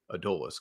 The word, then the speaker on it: Adolis: to say Adis Garcia most people say adolis Garcia either way he's tearing it up how do you how do you like to say it well if I'm going with a Spanish pronunciation I would probably say Ad Le like you yeah um or at least ad like you know everybody goes ad dois Garcia that's yeah that's the American way to say it probably he